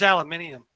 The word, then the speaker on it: aluminium: What is aluminium? Right. I am not getting into that on stream. Go away. It's the correct way to say aluminum.